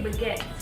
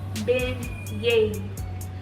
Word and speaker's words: beignets: I always say baguettes because that's how it's spelled, but they're called beignets.